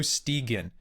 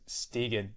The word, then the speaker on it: Stegen: I said it wrong. I'm doing well. I'm doing well. How are you? I'm doing fine, thanks. Stegen. I always don't know why I want to default to like Stegen. Hey, that's all right. It's the proper Scandinavian pronunciation after all.